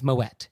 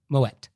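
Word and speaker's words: Moët: So you do say the T. It's Moet. He was Dutch. He wasn't French. So the correct pronunciation is Moet.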